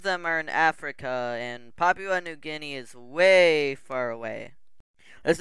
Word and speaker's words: Papua New Guinea: It is pronounced Papua New Guinea.